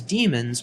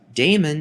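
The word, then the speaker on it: daemon: in the modern spelling however the pronunciation is the same damon is incorrect even though many people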